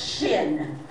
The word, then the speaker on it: shin: noon this is a it is pronounced shin opposed to sin so we're going to